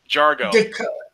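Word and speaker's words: D'Argo: Oh, Jargo.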